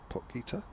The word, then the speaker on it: Potgieter: As that's pushed up to mid-off, and that's good fielding from, is that Potgieter? Yes it is, yeah. We're sticking with that as the pronunciation, aren't Well, I am.